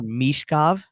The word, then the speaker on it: Michkov: The pronunciation as on the broadcast, because this is how he says his name. It's more Michkov. So give it that Mish, like that long E sound instead of less Mitch.